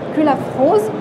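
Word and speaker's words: Cullaffroz: Alors d'abord, maître Sandrine Culafrose, je l'ai bien prononcé?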